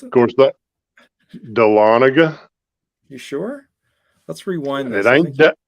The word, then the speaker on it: Dahlonega: I've been in the Dahlonega Museum how'd you pronounce it of course that Dahlonega you sure let's rewind this it ain't good